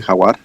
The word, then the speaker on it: Jaguar: Sagrada Tierra del Jaguar. How was that? Yeah, real close, very close. The J in Spanish is like an H, so Okay, it's I like see. Jaguar.